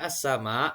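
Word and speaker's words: السَّمَاء: Pada kata as-sama, alif lam diikuti oleh huruf sin. Dalam membacanya, alif lamnya dilesapkan kepada huruf sin tersebut.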